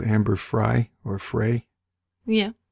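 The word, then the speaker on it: Amber Frey: called Amber fry or fry yeah most people say fry I think it's fry yeah although it's spelled like prey p r y so but anyway I'll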